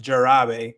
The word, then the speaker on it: jarabe: Jarabe is syrup. That is it's not jarabe, it's jarabe.